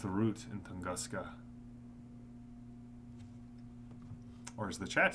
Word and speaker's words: Tunguska: My guess is that whatever they are doing in Barakin has its root in Tunguska. Or as the chat said I should pronounce it, Tunguska!